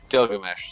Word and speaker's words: Gilgamesh: Gilgamesh, sorry about that.